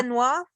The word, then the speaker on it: Benoit: Benoit in there. Did I pronounce Yeah.